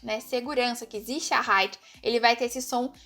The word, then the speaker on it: Sicherheit: Que ele tem esse som de Z, principalmente no início, né, das frases e antes de vogais. Então, aqui, Sicherheit, né? Segurança aqui, Sicherheit.